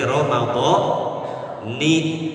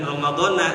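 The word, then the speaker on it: رمضان: Sama seperti nawaitu soma ghadin an ada'i fardhi syahri ramadhani. Jangan ramadhana. Kalau ramadhana salah tuh.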